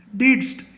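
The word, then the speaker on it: didst: Tense of डू, डू का past tense है, डिडस्ट ऐसा बोलेंगे, डिडस्ट।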